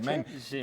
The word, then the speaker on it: Chimène: francesa que escribe Corneille, el personaje se llama Chimène, y así se dice Jimena en francés, ¿Con SH? Chimène, con CH, pero ahí está la sonoridad original de la X, es decir, Exacto.